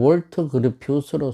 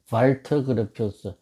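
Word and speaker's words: Walter Gropius: 독일 사람은 독일식 발음으로 이 W자를 발터 그루피우스, 요즘은 다 발터 그루피우스라고 표현을 합니다만, 그러면 이제 왜 이 월터 그루피우스냐? 이 독일어의 W자는 영어의 V자와 같은 발음이다 보니까 거기서 생긴 이제 영미 사람들의 혼돈이 잠깐 있었던 경우입니다.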